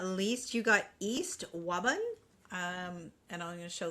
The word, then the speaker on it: Wabun: All right, Pisces, last but not least, you got East Wabun. And I'm going to show the card here. I was like, is she trying to say Robin? No, Wabun.